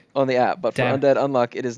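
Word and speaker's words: Undead Unluck: undead x unlock but you don't pronounce the x because everything is hunter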